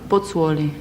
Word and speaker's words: Pozzuoli: during the war and you How do you pronounce the name of your original hometown? Pozzuoli. Pozzuoli?